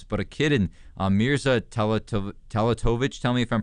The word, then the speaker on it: Teletovic: But a kid in Mirza Teletovic, tell me if I'm pronouncing that right or wrong. You can correct me. Teletovic, yeah.